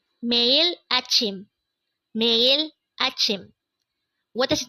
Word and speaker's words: 매일: The first syllable is me. The second syllable is ill.